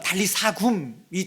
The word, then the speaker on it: 달리다굼: 야이로의 요청을 받아 그 죽은 딸을 살리실 때 아이야 일어나라, 우리에게는 달리다굼이라고, 우리가 성경 마가복음에 보면 달리다굼이라고 나와 있죠. 사실은 원어적인 그 발음으로 하면 달리사굼이 조금 더 가까워요.